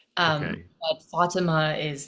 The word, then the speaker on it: Fatima: So, how it's supposed to be pronounced is Fatime, Okay, but Fatima is like the closest it's gotten, I think.